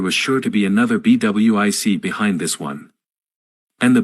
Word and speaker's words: BWIC: BWIC, pronounced BWIC, came into common use, an acronym for bid.